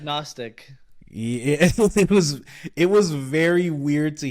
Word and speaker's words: Gnostic: Gnostic. Oh. It's not agnostic.